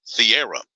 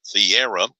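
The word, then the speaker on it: Thiero: Adu Thieira is how you pronounce it, Thieira.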